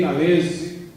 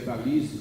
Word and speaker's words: Talese: O Gay Talese, que muita gente pronuncia Talese porque ele nasceu nos Estados Unidos, mas é Talese porque ele é filho de calabreses, e calabreses não chama Talese, é Talese.